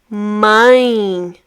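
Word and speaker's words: mãe: We have a nasal sound here. Mine. Not my but my. My. You can always try to put your fingers on your nose and close it. You might look funny doing that, but I'm sure it's going to help you out pronouncing all nasal sounds in Portuguese.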